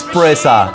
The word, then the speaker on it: Pressa: Guys, and none of you told me that it's Pressa.